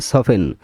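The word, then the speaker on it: soften: সফটেন মানে নরম সফেন এখানে আমরা বলি সফটেন আসলে উচ্চারণটা হবে সফেন সফেন এখানে এলটা সফেন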